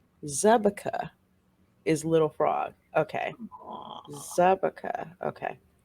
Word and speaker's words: Zabka: he speaks czech fluently the czech translation of her surname pronounced zebekah is little frog okay